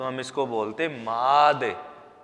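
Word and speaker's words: माँद: लीजिए की मां महान द इसको हम बोलेंगे मांद अगर चंद्रबिंदु नहीं होता तो हम इसको बोलते मां दे मां लेकिन चंद्रबिंदु लगा हुआ है तो हम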